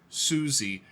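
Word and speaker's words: Siouxsie: this is from a band called Susi or Suzy and the Banshees suie is spelled s IO ux like Sue um Native Americans s iio uxs i e Suzy and the Banshees I've never even heard of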